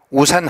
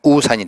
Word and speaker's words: 우산: 가출 빚자 우비 우산 우리가 흔히 오산 하는데 정확한 발음은 우산이 되겠습니다 기우제 피가 어귀를 기다리면서